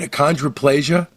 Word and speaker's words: achondroplasia: By the way, did I pronounce it right? Achondroplasia?